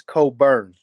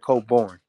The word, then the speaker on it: Cobourne: doing it but I have to um it's Coburn instead of coborn um and it's it's a Miss it's a